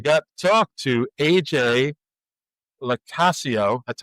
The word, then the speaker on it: LoCascio: So, of course, we got to talk to AJ LoCascio. That's how he said you pronounce his name, like Casio, the watch, but with Y on the front, who wrote a children's book called SPOOPS, The Little Spirits of Halloween.